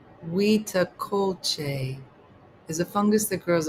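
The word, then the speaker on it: huitlacoche: Pronounced wea culte is a fungus that grows on corn kernels forming bulbous blue gray masses.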